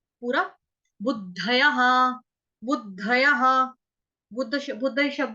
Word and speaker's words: बुद्धयः: बुद्धयः, ब पूरा, छोटा ऊ, दबात वाला या दरवाजे वाला, उसके आगे नीचे पैर में है धनुष वाला ध पूरा, य पूरा, और विसर्ग, विसर्ग का उच्चारण ह।